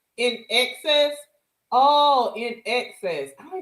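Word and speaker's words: INXS: It's pronounced in in excess.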